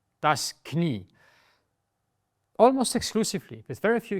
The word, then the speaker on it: Knie: If you want to stretch the letter I in German, then you can also add the letter I. So you have I-E. As a combination, the I is not pronounced.